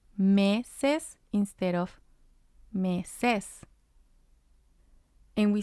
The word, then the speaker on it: meses: We have meses, meses, and it means months. And this one ends in S, and it also has two syllables, ses, me. Ses is the first syllable, me is the second syllable.